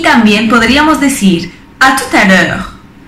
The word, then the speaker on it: à tout à l'heure: Y también podríamos decir à tout à l'heure. À tout à l'heure. Hasta ahora. Fijaros que ahí la T se pronuncia porque está seguido de una vocal.